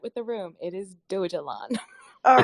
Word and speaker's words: Dogelon: I didn't want to mispronounce it and call it doggy long. No, that's great. I just want to level set with the room. It is Dogelon.